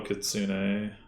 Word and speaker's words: kitsune: But still no Kitsune. It's kitsune. Says who? The internet.